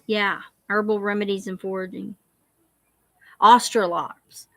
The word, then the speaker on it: Australorp: herbal remedies and foraging australops australorps or ostrolops yeah those are good nostralor i always say it wrong i'm sorry australorp those are good heavy